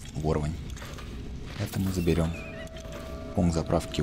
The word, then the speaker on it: ворвань: Второе. Ворвань. Ударение на О.